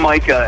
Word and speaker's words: Micah: I'm Micah, actually, is how you pronounce it.